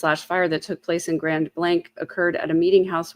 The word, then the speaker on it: Grand Blanc: way, that it's um, the way to pronounce the town name is Grand Blank.